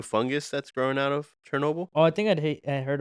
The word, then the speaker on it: Chernobyl: Chernobyl. Sure. Chernobyl. What? Chernobyl. Sure, that's not how you say it. What was it? Chernobyl. Chernobyl.